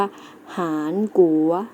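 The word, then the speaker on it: 韩国: เกาหลี ใต้ เกาหลี ใต้ เรา จะ ออก เสียง ใน ภาษา จีน ว่า หาญ กรุ วัด นัก เรียน เรา ออก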